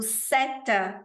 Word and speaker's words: cette: A gente tem o seta, que se escreve C-E-T-T-E, para gente, que a